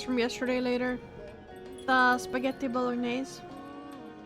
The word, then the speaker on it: bolognese: Of course, in English or American, you normally say it bolognese. bolognese. Okay. Bolognese, like spaghetti bolognese, but the typical Italian pronunciation is quite different.